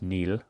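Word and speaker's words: Niall: ferguson's uh latest work this does look nile but it is pronounced neil it is of course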